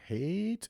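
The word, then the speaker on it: Haidt: has done has written books on this, Jonathan Hate. H A H A I D T. I think that's you pronounce his last name. I'm not sure. Hate.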